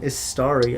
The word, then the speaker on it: Istari: midnight up against um istari i believe is how you pronounce it and they are the